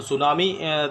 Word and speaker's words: tsunami: Okay, तो सुनामी देखिए इसकी स्पेलिंग जो है सुनामी की टी से स्टार्ट होती है.